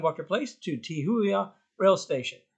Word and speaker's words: Te Huia: from my home at 9 walker place to tihuya rail station how would you pronounce it properly to who yeah as I said don't listen to me